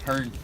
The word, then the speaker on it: herring: We call them 2 white stakes from time to time, and Hearn is the kind of the local pronunciation. Yeah, the herring, herring or hern.